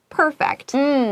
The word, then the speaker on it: perfect: Practice 就练习。那这里同学们发现，我们把 perfect 发的有一点点不一样呢，这代表说它的意思是不一样。当动词的时候，perfect 重音在第二个音节，就代表说你让什么变得完美。For example, you want to perfect your English so that your English sounds perfect. 当形容词的时候 perfect 重音在第一个音节，同学要特别小心。